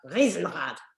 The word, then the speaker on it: Riesenrad: I think my dad's going to correct my pronunciation there. Riesenrad. Is that right, Dad? Okay, that's better.